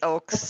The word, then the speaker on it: Oaks: Every time I see it, I think Oaks. It's Oaks.